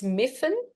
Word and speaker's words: Myfan: I've been called Myfan, so many names, but anyway, my name's Myfan. So that's a silent A and a Y pronounced as an I.